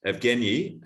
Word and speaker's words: Evgeniy: And Evgeny, have I said it right?